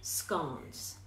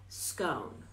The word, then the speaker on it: scone: On the second tier, you'll usually find scones. Now, notice how I pronounce that. I didn't say scone. Technically it's pronounced scone, as if the E is silent.